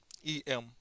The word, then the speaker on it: em: That means we pronounce it as em.